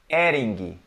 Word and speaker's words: Hering: the you say here adding adding adding adding seesaw again you cut the H out right we first look er ing Eddie yes and we pronounce the letter G in the end so adding adding adding